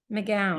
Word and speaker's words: McGowan: Would you pronounce it Gowan? Yes, you would. Even though it's W-N, like gown, like a dress, gown. I think, well. Gowan would be W-A-N. But the W is kind of pronounced W, so McGowan.